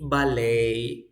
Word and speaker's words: ballet: if you have for example you say ballet ballet if you have Cafe you say Cafe if